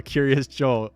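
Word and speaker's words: Kiryas Joel: Not digging the fact that the town is called Curios Joel and it's pronounced just like my ex and YouTube handle. Curious Joel.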